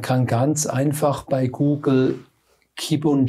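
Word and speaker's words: kybun: Ja, man kann ganz einfach bei Google Kibun Joya eingeben, Kibun oder Joya. Kibun schreibt man K-Y-B-U-N und Joya mit J-O-Y-A.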